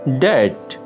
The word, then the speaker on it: debt: Debt. ডেট, ঋণ, দেনা। ডেট, ঋণ, দেনা। এখানে মার্ক করা বি লেটারটি হচ্ছে একটি সাইলেন্ট লেটার।